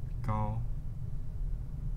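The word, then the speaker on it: 高: Gao. That's pronounced from this first syllable.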